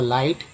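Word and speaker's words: light: इन फ्लिक्ट्स, इन फ्लाइट, IGST को बोलते हैं आइट, ठीक है, और एल के साथ लगा तो लाइट, एम के साथ माइट,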